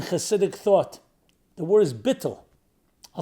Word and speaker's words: bittul: The word is bittul. I'll spell it. I'll transliterate, spell it B-I-T-T-U-L, bittul.